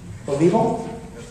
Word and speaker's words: Olivo: Next is Olivo. You pronounced that correct. My name is Olivo, and I thank all the Tea Party members for the opportunity to be here today.